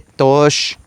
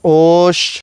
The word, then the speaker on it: t'oox: No se dice tos, se dice tosh.